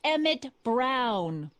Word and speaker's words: Emmett Brown: bill to a T that's Emmett Brown rhymes with clown which I'm beginning to